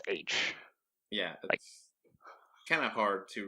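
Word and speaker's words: Aech: arch is like H so the book gets spelled a e CH pronounces age yeah kind of hard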